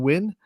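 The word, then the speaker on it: Wynn: also on the home team is sebrings Reagan win and that is her second straight Allstar appearance out of Sebring and if you have a name like win Scotty you better be either a really good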